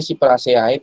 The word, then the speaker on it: Cyperaceae: Tulisannya Cyperaceae, bacanya Cyperaceae. Ya.